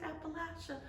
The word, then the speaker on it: Appalachia: products West Virginia products Appalachia and it is pronounced Appalachia um I've heard it so many ways I